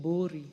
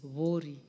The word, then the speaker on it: Vori: Some people would like to call it Bori but it is Vori. That's the correct pronunciation.